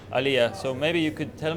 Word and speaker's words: aliyah: and they are doing it because of the alia how do you pronounce it Illya Illya so maybe you could tell me what is